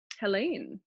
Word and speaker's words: Helene: and the last name is is it helene helene oh i did good huh you did very